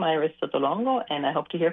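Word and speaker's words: Sotolongo: My name is Iris Sto Longo. I'll spell that.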